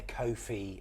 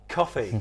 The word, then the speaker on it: Ko-fi: If you haven't seen it, it's because you're not a Ko-fi member. So if you're a member of the that channel, was coffee. Kofi. It rhymes with no fee.